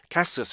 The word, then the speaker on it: castles: castles 이렇게 돼야 돼요. 왜 그러냐면은 S 발음하고 L 발음하고 Z 발음이 연이 왔어요. 이거는 자음이 3개가 연이 왔어요.